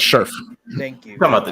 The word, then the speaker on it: Scherf: I can never know how to pronounce his name. Sheriff. Brendan Scherf. There you go. It's Scherf.